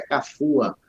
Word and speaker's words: Cafua: O nome Cafua é de origem banto, né? Cafuá. Eu queria até lhe dizer que a palavra, a pronúncia é Cafua, que quer dizer em língua banto, escuridão, caverna.